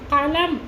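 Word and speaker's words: قلم: Cough இருக்குது, காஃபில் நாக்கினுடைய வேறு பகுதியில் உச்சரிக்கக்கூடிய காஃப் அப்படிங்கும் பொழுது கலம் அப்படின்னு நம்ம சொல்கிறோம், அப்படின்னா பேனா அப்படின்ட்டு அர்த்தம். இதே தொண்டையினுடைய இன்னும் கொஞ்சம் மேலே உச்சரிக்கிறோம், கலம் அப்படின்னு நம்ம அடுத்த காப்பு உச்சரித்தோம் அப்படின்னு சொன்னால் அது பேச்சு அப்படின்ட்டு அர்த்தம்.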